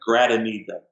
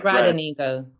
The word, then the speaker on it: Gradenigo: He said Derrick GRADENIGO when it's actually Derrick, and it's an extra syllable in there, GRADENIGO. So it's like GRADENIGO.